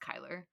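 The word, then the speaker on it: Chyler: s but whatever it's it's Shyer Le Kyler KY that is c h y l e r how was I supposed to know that that's pronounced Kyler make me sound like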